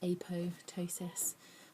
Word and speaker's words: apoptosis: Apoptosis is supposed to be pronounced apotosis, but um I think